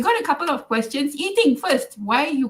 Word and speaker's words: Ee Ting: Like I tell people my name is Eating, and the next thing they'll tell me is don't joke. Then I said it's true, but it's spelled Eeting.